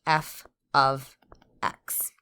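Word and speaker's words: f(x): When you see this notation here, that is pronounced f of x.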